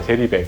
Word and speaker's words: 제리백: 젤리백 안 돼. 제리백 마우시야. 젤리백. 제리백입니다. 제리백. 강하게 안 하셔도 돼요. 된 발음 말고 제리백. 처음에 시작할 때는 진짜 저는 정말 지금 생각해보면 아무것도 모르니까 시작했던 것 같아요.